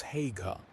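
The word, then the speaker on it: Haigha: His name is Hagga. He pronounced it so as to rhyme with mayor.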